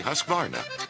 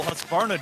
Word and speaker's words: Husqvarna: now how to say husqvarna you say husk like corn and barn like varnish without the ish and nah